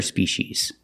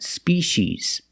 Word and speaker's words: species: because they're two different species that's the plural form it sounds exactly the same as the singular form a dog and a